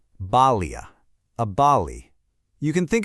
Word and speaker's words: bali: In Sanskrit, it's called a bali. You say it like this, balia.